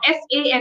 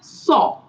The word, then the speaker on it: sans: is pronounced as saw. SAW, saw. That is how you pronounce this word. NS is silent and is replaced by W when you pronounce it.